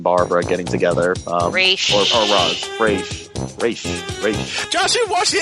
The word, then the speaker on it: Ra's: thing, and I'm still formulating my thoughts on Race and Barbara getting together. Race. Or Roz.